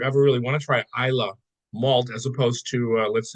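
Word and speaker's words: Islay: you've always corrected me on this it's called Isa I a lot of people you say ilay iay malz but you I have heard I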